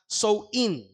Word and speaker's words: Samhain: At ito po ay tinatawag na Samhain, or sa wikang Ingles, tinatawag nila ito o binibigkas ito na Sow-in.